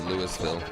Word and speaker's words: Louisville: Uh, actually it's spelled like Louisville in Kentucky, ironically, but it's pronounced Lewisville.